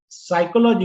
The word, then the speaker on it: psychology: test what I'm saying sir what about the word psychology psychology you're looking at the spelling right so that s is p is silent yes so it's not there in the sound right it's just a spelling right okay my claim